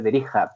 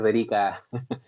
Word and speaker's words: Derikha: Mi nombre es y se pronuncia el apellido Derija, pero ya ha pasado a ser Derica. Por tanto uso, ya así se dice en estos tiempos, ¿no?